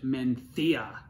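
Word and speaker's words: Mencía: have a conversation about mencia or if i actually knew how to pronounce it in spanish menthia okay welcome back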